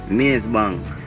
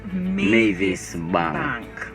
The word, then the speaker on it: Mavis Bank: Maize Bank. That's not the correct pronunciation. Yeah, Maize Bank. The correct pronunciation is Mavis Bank.